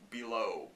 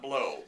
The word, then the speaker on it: Below: Johnny Depp movie though below not blow blow really overly pronounce it there is Dog Soldiers